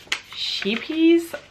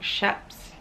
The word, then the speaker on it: Scheepjes: say already um but this is the sheepies that is not how you say it like the proper way to say it i think that's something like shep's yes but apparently you